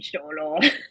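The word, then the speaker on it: Xolo: Is that how you pronounce his name? Cholo. Oh yes, Cholo, Blue yes.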